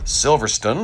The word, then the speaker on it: Silverstone: stage two and we are over at Silverstone or Silverstone. It depends on how you pronounce it. It really should be Silver Stone, but I know some